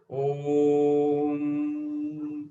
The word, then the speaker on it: ओम: एंड इसको pronounce कैसे करते हैं आप, ये 3 सिलेबल से बना हुआ है. इसको चैंटिंग में हम बोलते हैं ओम, इस तरीके से बोलते हैं, लेकिन ये 3 सिलेबल्स में बना हुआ है.